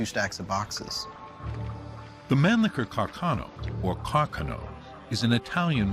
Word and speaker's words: Carcano: This is a 6.5 millimeter Carcano. That was the proper pronunciation, although most Americans say Carcano.